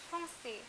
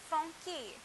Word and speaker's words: français: Okay, one more example is français, français, which means French, français. Okay, so now if I remove the cedilla, it will be pronounced as franquet, franquet. So this is how the cedilla is used to change the pronunciation of words from the K sound to the S sound, français, garçon. So the next one that